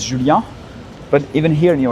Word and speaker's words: Julien: But because I'm French, you know, my name is with the E. It's Julien with the E. So in French we say Julien. The right pronunciation is Julien.